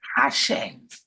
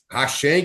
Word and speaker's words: Hashem: Hashem. Hashem, que significa o nome, ou Adonai, é a maneira que eles pronunciam.